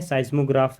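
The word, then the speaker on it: seismograph: इसको रीड क्या करेंगे, इसको जो रीड करेंगे ये मैंने आपको यहाँ पे लिख दिया है, साइज्मोग्राफ है, ये आपका इसका राइट प्रोनाउंसिएशन हो जाएगा, ठीक है ना।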